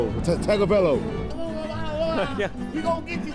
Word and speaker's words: Tagovailoa: Basically, I asked tourists, some locals, if they could say that name, Tagovailoa, and it went about as well as you expect.